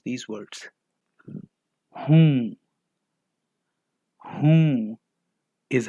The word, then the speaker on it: हूँ: Whom. Whom is how we say am in Hindi. The last N in whom is pronounced nasally and carries a slight N sound. It is like a short N sound.